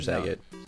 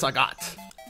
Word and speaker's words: Sagat: Street Fighter Saget. No. Oh, That's Sagat. Oh, Gabe with the pronunciation lesson, but Gabe is not featured in